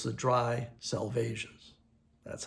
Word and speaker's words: Salvages: So it's the dry salvas. That's how it should be pronounced. The dry the dry salvas.